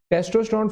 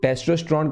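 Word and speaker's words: testosterone: जो टेस्टोस्टेरोन कह लो, टीस्टोस्टेरोन कह लो, काफी बच्चों को दिक्कत होगी कि मैं प्रोनाउंसिएशन गलत कर रहा हूं, लेकिन ऐसा नहीं है। टेस्टोस्टेरोन टीस्टोस्टेरोन एक ही बात है, वो टेस्टिस से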